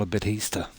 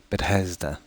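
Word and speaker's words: Bethesda: I hang out with people online and they pronounce it differently I pick up words pretty easily yeah now I've heard people call a bit Easter which it can be read that way as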